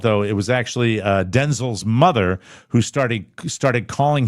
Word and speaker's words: Denzel: Uh, you know Denzel Washington? Uh, no you don't because you've been saying his name wrong all these years. It's not Denzel, it's Denel. You emphasize the first Washington.